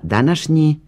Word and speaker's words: današnji: Ako pažljivo slušamo izgovor prideva današnji, osjetit ćemo dužinu na kraju, iza kratkog sloga.